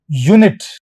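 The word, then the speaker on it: unit: क्या बोलोगे इसको आप यूनिट य का साउंड आ रहा है प्रारंभिक ध्वनि इनिशियल साउंड य का आ रहा मैं जो किलो होता है वह वजन की यूनिट होती है।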